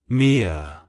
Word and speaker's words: Miya: meanings it's pronounced as MIA MIA MIA to pronounce it correctly emphasize the first syllable me and then quickly glide